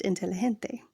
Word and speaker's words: inteligente: The letter G is pronounced H, as in hen, when it appears before E or I. Example, inteligente is pronounced inteligente.